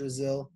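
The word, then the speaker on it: Drazil: Raziel it it was just a little lit it was just a little joke brazil rhymes with drizzle i thought it might help you remember my name Terrence laughed drizzle Brazil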